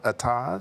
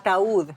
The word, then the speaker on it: Ataúd: How do you pronounce this song? Atad? How do you say it? A what? You won a Latin Grammy for one of your songs. What was Ataúd.